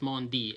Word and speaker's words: Maundy: by the way to say Maundy Thursday and not Monday Thursday cuz you really really want to say Monday Thursday because it rhymes or but it's not Monday its Maundy Mau and dy almost spelled it the